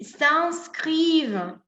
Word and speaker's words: s'inscrivent: Entonces, perdón, debo decir, Julien et Sylvie s'inscrivent à l'université. IN en francés tiene sonido de en.